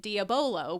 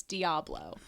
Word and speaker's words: diabolo: so I laughed because Bill read it diabolo which we now know is correct but Bill is sometimes notorious for mispronouncing words and in my head I'm thinking it's diablo so I hear Bill